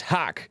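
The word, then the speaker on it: haqq: as christian american subverted hack is pronounced hak and is arabic for truth according to google well arabic for truth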